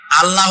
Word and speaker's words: আল্লাহ: বলেন তো আল্লাহ নয় কিন্তু আল্লাহ হচ্ছে অশুদ্ধ। শুদ্ধ হচ্ছে আল্লাহ। বলার সময় মুখটা গোল হয়ে যাবে।